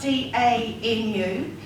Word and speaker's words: Danu: And so I chose Anu, but it's actually spelled D-A-N-U, and when you mispronounce it, it's Danu.